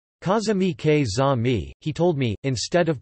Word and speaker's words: каза̀ ми: The stress is often written in order to signify a dialectal deviation from the standard pronunciation. Kaza mi ke za mi, he told me, instead of kaza mi, kaz mi.